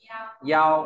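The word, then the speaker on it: 幺: Tiếp theo ta có bộ yêu, nó về nhỏ bé đọc là yao, ở lớp đọc to này yao.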